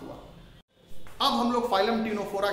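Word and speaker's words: Ctenophora: ठीक है, तो फाइलम टीनोफोरा में जो नाम पड़ा है टीनोफोरा, उसका मतलब होता है टीनी बियरिंग एनिमल्स। तो टीनोफोरा मींस टीनी, इसमें टी इसमें सी साइलेंट है, tiny bearing animals, tiny bearing animals.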